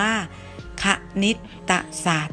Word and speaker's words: คณิตศาสตร์: เรือ การันต์ นะ คะ อ่าน ว่า คณิตศาสตร์ นะ คะ อ่ะ มี คำ ว่า ศาสตร์ นะ คะ จะ ไม่ นำ ต่อ เต่า รอ เรือ การันต์ มา ออก เสียง ด้วย นะ คะ เด็ก ๆ